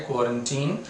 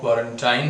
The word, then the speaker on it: quarantine: तो प्रोनाउंसिएशन जैसा मैंने कहा इसका है क्वारंटीन एग्जैक्टली। हालांकि जो इंडिया में चल रहा है वो क्वारंटाइन है, बट एग्जैक्ट वन अगर आप डिक्शनरी कंसल्ट करेंगे तो आपको क्वारंटीन ही लिखा हुआ उसमें मिलेगा।